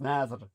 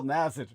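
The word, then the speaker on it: Nasr: To quote us Nazir, N-A-S-R, it's pronounced Nazir, right? He was hoping that this would be a Who?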